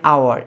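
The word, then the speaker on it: hour: লোক এবার আছে এন আওয়ার এক ঘন্টা দেখো এখানে এইচ টা এখানে উচ্চারণ হচ্ছে না এইচটা যে কারণে এখানে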